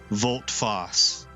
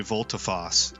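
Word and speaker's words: volte-face: position and oh foss it looks like it's volt foss or maybe volta foss it's got two pronunciations man that's neat i've never heard that before i had to look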